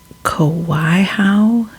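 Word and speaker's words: Kawaiahao: the cemetery name so I think I might have to spell it after I say it because it it's not I can't pronounce it from the Kauai how Church Cemetery and it's spelled k-a-w-a-i-a-h-a-o Church Cemetery to the burial mound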